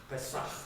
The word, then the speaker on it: Pesach: This is more from the throat. Pesach. Pesach.